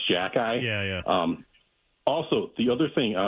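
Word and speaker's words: Xhekaj: So I just want to say the Montreal player's last name is Jack-Eye. It's pronounced Jack-Eye.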